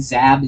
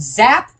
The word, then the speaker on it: Zab: okay in general I for now I'm I'm pronouncing Zab Zab okay okay okay you do not know how many times people have gotten my name wrong all right I've been called zap dab Zim Zach Zeke it's it's ridiculous at